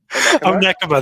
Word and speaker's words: Onekama: Onekama, there you go. Yeah, I lost it in my brain too, dude. It doesn't sound like it looks like it's spelled, but yeah, there's golf balls there.